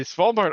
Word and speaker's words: Svalbard: It is located in a decommissioned coal mine in the Svalbard archipelago. Sorry, let me pronounce that correct. The Svalbard archipelago, by the way, it's close to the North Pole.